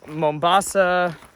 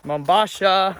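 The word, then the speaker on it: Mombasha: So now we are climbing our last hill of the day, and it is Mombasa, You said it wrong. Mombasa, There you go.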